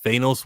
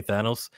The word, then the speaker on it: Thanos: Like Thanos was what was said before from comic readers, and now they all gotta say Thanos.